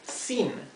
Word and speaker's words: sin: with and the word sinen that means without the spelling of these words is c o n and e n okay remember that this word the I is in Spanish pronounced e okay and the letter